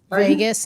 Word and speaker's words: vagus: the vagus nerve which which nerve vegas not spelled like las vegas yes and that is